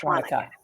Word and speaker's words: Shwanika: Just replace the I throws people off, but like how you pronounce this is like pretend there's an A there instead of an I. So then it's just Shwanika.